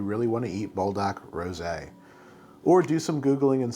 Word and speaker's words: rosé: I have seen some folks doubling down on calling this rose flavor, like the flower, which no, this does not contain rose water as an ingredient. The package clearly says rosé, you see with the accent mark over the E. And so I'm going to pronounce it rosé because that is how it is written, and because this looks